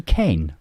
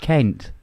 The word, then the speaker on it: Kent: know I'm sorry yeah is M calling me Ken it's pronounced Kent Michelle Mo G that's fighting talk that is